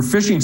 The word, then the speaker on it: phishing: a fish for dinner this fishing is spelled starting with a pH instead of an F so pH issuing and